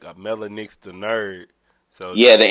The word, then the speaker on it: Mellah Nix: Yeah, it's Mellah Nix.